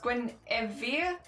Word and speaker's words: Gwen: Gren is pronounced Gwen. Guinea. Not Genevie. Geneva.